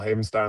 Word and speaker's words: Havenstein: You're not the only one who gets it wrong, so that's why I got the whole Havenstein, like Frankenstein thing.